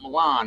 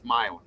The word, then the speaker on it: Milan: It's not Milan. It's Milin. Milin. Only you have that hyphenated thing on side of I. Only on NCIS do they say Milan? Is it Mount Milin?